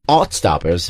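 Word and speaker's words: Heartstopper: It's pronounced Altstoppers, right?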